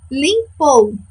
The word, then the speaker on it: limpou: Próxima palavra, limpou. Vamos chamar junto comigo. Limpou! Quem é a nossa sílaba tônica? Muito bem. O pou, ela é a nossa última sílaba.